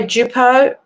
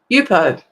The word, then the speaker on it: Yupo: You can buy Jupo Jupo Yupo. Sorry, I had to think of how to pronounce it. Um you can buy Yupo, which is um like a plastic type paper.